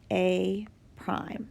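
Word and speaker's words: A′: and then we have this a with an apostrophe um just so we know for future that is pronounced a prime so put in in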